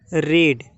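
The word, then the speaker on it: read: होते हैं जैसे कि रीड लेकिन इसको पढ़ते अलग है बाकी लिखने में सेम रहता है रीड इसको रेड पढ़ेंगे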